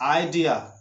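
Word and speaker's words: idea: तो होता है वर्ड्स, लेकिन ई इसका उच्चारण नहीं करना है। तो ध्यान रखना, आइडिया बोलते समय, आइडेंटिटी बोलते समय, आइस बोलते समय, आइसक्रीम बोलते समय आपको आई से वर्ड शुरू तो करना है, लेकिन आई को ई नहीं कहा करके आई को आई बोलना है, तभी आपकी सही उच्चारण होगी।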